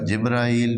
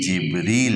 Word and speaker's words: جبریل: ہیں، جبرائیل اور میکائیل۔ اس کا تلفظ جو ہے نا ہمارے ہاں اردو میں دونوں کا برابر کیا جاتا ہے، لیکن قرآن میں اس کے تلفظ مختلف ہیں۔ یہاں جبرائیل نہیں ہے، ہاں، جیسے ہمارے ہاں